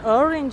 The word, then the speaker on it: orange: You have to say orange in English, orange. La A si legge I, orange, orange, orange color.